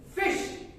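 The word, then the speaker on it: ghoti: it is pronounced as fish don't believe me what is this word can anyone everyone pronounce it for now take the G pronunciation from enough what is this word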